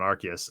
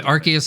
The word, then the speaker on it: Arceus: the nintendo directs have said said it with the hard c okay okay what about